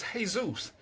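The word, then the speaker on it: Jesús: do know that the first slave ship was hey-zeus je issue s cases because that's how we know Hispanics pronounce it the Americans would probably say Jesus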